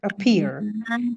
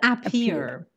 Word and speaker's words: appear: somewhere yes very good appear it's not up here usually not always usually the words that start with an a in english are pronounced like this uh it's a schwa sound okay it's not a